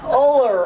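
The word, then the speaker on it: Ullr: Uller Award. It's short a few vowels.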